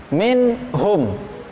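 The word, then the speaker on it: منهم: Jadi bacanya harus jelas, min hum.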